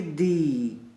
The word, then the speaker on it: the: अगर वो शब्द वोवल साउंड से है तो इसको आप प्रोनाउंस करेंगे दी। अगर जिससे पहले आ रहा है वो शब्द कॉन्सोनेंट साउंड का है तो उससे पहले आप बोलेंगे द।